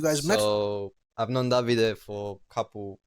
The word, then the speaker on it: Davide: My name is Davide. Davide. David, sorry. It's fine. You can call I me said David. that to him. Yes, I said I pronounced it David.